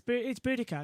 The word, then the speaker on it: Boudica: what about that Queen, Boadicea? What's it? Boudica? It's Boudica. It's Queen Boudica, isn't I it?